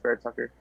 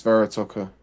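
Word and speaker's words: Vera-Tucker: I think it's Barrett Tucker. It's Vera Tucker. It makes sense. That makes sense. Kind of Beautiful pick. anticlimactic, but I mean, put Vera Tucker next to Mekhi Becton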